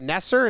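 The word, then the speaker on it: Neser: and it happened so this guy nesser is how you pronounce it he knows it's a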